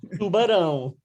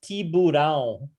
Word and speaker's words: tubarão: Tubarão. Tubarão, very nice. Tubarão. Tubarão. Uh-huh. Oh, and for the longest time, I thought it was tiburão Tu. Uh-huh. because I've was creating it based on Spanish.